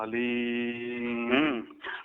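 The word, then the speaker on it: ह्लीं: केवल ऐसे बोलना है हलीम।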